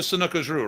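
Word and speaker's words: Sanuces Ryu: So you did the Sanukajru, right? Correct. Am I pronouncing it right?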